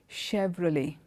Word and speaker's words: Chevrolet: itself is complicated as CH e V R o le T it's like a French name but as an American brand and the name of that and how you pronounce that word is Chevrolet Chevrolet okay that's how